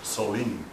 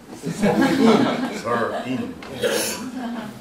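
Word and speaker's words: Seoul: I always want to pronounce it Solin, but you pronounce it like Sorin. Sorin.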